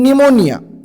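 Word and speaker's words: pneumonia: निमोनिया नावाचा आजार आहे निमोनिया निमोनिया पी सायलेंट आहे एन पासून सुरुवात आहे तर सुरुवात पी पासून आहे असं नाही की खाऊन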